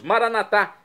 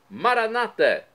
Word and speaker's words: Maranatá: E agora eu clamo do aramaico, dialeto de Jesus, Maranatá, com a tônica na última sílaba, como dizemos nós católicos, ou maranata, como dizem nossos irmãos das comunidades evangélicas ou protestantes.